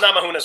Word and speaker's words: Namajunas: So Rose Namajunas won. Yes, that's how you pronounce it.